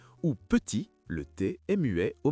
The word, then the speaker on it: petit: C'est la même chose pour salut, le thé est muet ou petit, le thé est muet au masculin.